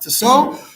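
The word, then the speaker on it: Tissot: the author's name was tiso spelled to sat pronounced to so and he took this this book um seems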